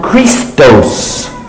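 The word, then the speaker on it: Χριστός: Christ comes from Christos Christos is not Arabic it's not Hebrew it's not Aramaic it's Greek this is a Greek word Christos and it got shortened to Christ and then it became pronounced Christ so basically what we're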